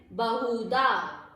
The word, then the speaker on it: बहुधा: बहुधा, हु मात्रा छोटी इसलिए ब के साथ पढ़ा जाएगा बहुधा।